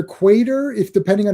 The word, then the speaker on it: Quatermain: it's just like it's and they're adding an R there's no R after the A yeah, it's not quarter. Quarter like it would be either quater if depending on how